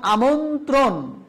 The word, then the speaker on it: আমন্ত্রণ: নিয়মটা আমরা কি শিখবো এরপরে শিখবো যে সংযুক্ত বর্ণে র ফালা যুক্ত হলে দ্বিতীয় উচ্চারণ হয় না তাই আগে শিখেছি যে প্রথম বর্ণের র ফালা থাকলে দ্বিতীয় উচ্চারণ হয় না এখন শিখছি সংযুক্ত বর্ণের র ফলা থাকলে দ্বিতীয় উচ্চারণ হয় না কিন্তু র ফলা এক্ষেত্রেও থাকবে যেমন আমন্ত্রণ আমন্ত্রণ এইরকম ডাবল র ফলা উচ্চারণ করা যাবে না আমন্ত্রণ নিয়ম এই যে